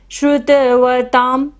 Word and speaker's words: श्रुतवतां: अल्पश्रुतं श्रुतवतां, ता के ऊपर बिंदी है और बाद में क्या आ रहा है, प, तो यहाँ पर बिंदी का उच्चारण क्या होगा, म।